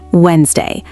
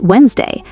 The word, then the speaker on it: Wednesday: Wednesday. Looks like it should be Wed-nes-day, but it's really just Wednesday. That silent D trips up basically everyone.